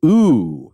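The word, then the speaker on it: ooo: He did two games, one of which was Elekhead, and the other one is Ooh. That's 3 O's is how you pronounce that game.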